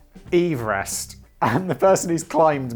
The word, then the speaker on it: Everest: Which Simon has just wrongly pronounced Everest, but it should actually be pronounced Everest to match the surname of the British surveyor who discovered it.